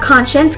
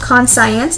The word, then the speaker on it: conscience: by a word but it's not con science it's conscience here this makes sort of like an sh sound moving on with the